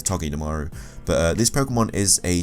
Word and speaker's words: Togedemaru: I think it's a hard G, so it's Togedemaru.